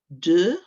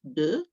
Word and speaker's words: deux: Deux, we've got an sound, haven't we? And an X that we don't pronounce. Deux.